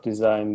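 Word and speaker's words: dsign: someone needs a web design then they can check out my website which is hard to pronounce really its design but without the e it's like d s i g n dot sight okay design looks like yeah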